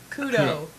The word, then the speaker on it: Couto: Actually, it's Couto. Couto. Well, it's C-O-U. It's O-U-T. It's Couto.